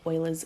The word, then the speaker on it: Euler: 19 planar graphs and Euler's formula so just want to note this word here is pronounced Euler cool sorry we're just